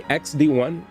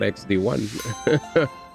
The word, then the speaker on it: XD1: Did you know that the X is a placeholder? D1 is my like that's the X is totally not a part of the X is silent. I come from the era of people that used to use X's in their names where you didn't read the X.